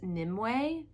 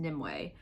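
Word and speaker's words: Nimue: how it's pronounced but I'm pretty sure her name was pronounced nimway I have it written down correctly it's n i m u e but anyways if I'm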